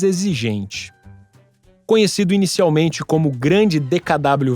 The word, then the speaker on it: DKW: sob licença da alemã DKW também pronunciada como dkv siglas que em tradução